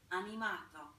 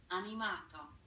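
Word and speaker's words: animato: now so let's listen to the italian term pronounced correctly on yamato we'll listen one more time on yamato Annie Mott oh it sounds very that we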